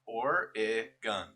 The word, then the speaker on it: Oregon: mom used to live the correct pronunciation uses three syllables or a gun or a gun okay